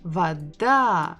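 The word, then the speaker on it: вода: letter bukova where da Vada we stress this final syllable again if we look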